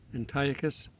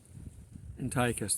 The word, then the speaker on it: Antiochus: throne in Syria it's not right on the pronunciation Antiochus Antiochus that's it had to think a bit I'm